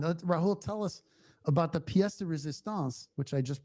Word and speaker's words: pièce de résistance: Rahul, tell us about the pièce de résistance, which I just pronounced correctly for you Nice.